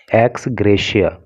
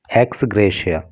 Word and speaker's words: ex gratia: एक्स ग्रेशिया, देखिए इस word पे आपको विशेष रूप से फोकस करना है। इसका जो प्रोनाउंसिएशन होता है वो ग्रेशिया होता है, एक्स ग्रेशिया।